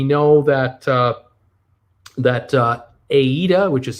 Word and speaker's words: AIDA: next may we know that uh that uh aida which is spelled a ida uh the german it's a